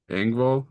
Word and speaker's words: Engvall: Bill Ngab? Engvall, Engvall, and Larry the Cable Guy.